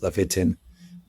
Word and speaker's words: Levitin: Sorry, not Yaakov Levin, Rabbi Yaakov Levitin. Levitin is how you pronounce the name.